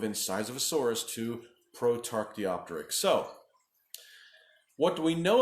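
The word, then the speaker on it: Protarchaeopteryx: tough to pronounce this everybody knows Archaeopteryx but then they go and put P ro t in front of it so be pronounced prote Archaeopteryx so Prout Archaeopteryx we believe it may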